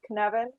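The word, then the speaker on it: Cynefin: through the kinevin framework bit of a tricky word to to pronounce but it's kinevin and it's welsh and i'll explain the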